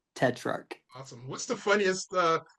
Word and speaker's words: Tetrarch: It is Tetrarch. So, it's uh the ch at the end makes a K sound. Tetrarch.